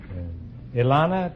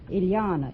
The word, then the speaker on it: Ileana: Ilana, is that right? Ileana. It rhymes with manana.